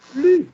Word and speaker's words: plus: Et comme ça, on fera en sorte qu'il n'y ait plus d'erreurs. Comme ça, il faut qu'il n'y ait plus d'erreurs. Ah oui, oui. Plus prononcées sans le S.